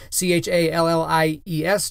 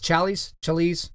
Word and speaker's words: Challies: So there's a guy online, actually, his name is Tim Challies, I think is how you say his last name, C-H-A-L-L-I-E-S, Challies, we'll say Challies, okay?